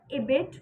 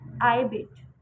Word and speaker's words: ibid: So guys, today I'm going to tell you about IBID, जिसकी pronunciation दो होती है। एक होती है इबिट, एक होती है आईबिट।